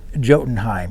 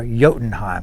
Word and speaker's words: Jotunheim: below that there is jotenheim or yotenheim because i think i'm not supposed to pronounce the j even though i learned